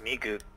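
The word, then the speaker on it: 미국: It's pronounced Migug.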